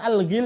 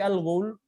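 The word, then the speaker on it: الغول: Bukan al-ghil ya, bukan al-ghul tapi al-ghul.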